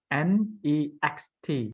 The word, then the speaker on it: next: potty yeah so when you say neck remember it have so many letters it's have a n e x t so you cannot just say neck okay it have to be next next good pronounce every single letter that you can so